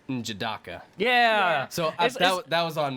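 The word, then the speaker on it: N'Jadaka: We've been pronouncing his name wrong. It's Njobu, and the son's Wakandan name is Njidaka.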